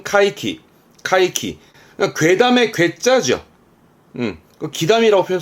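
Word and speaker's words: 怪奇: 발음은 카이키.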